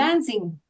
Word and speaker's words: Jansen: Se pronuncia? ¿Jansin? Jansen. Jansin, bueno, muy bien.